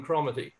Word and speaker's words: Cromarty: By the way, I've met no Cromarty who pronounces it other than Cromarty.